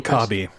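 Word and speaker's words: W'Kabi: Is it Wakabi? How you pronounce his name? Wakabi.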